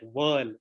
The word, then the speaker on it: Whirl: hi i'm ashish and it is pronounced at world just like in whirlpool so yeah so w h rrl uh is pronounced at w-h-i-r-l which is world as in world pool practice maybe next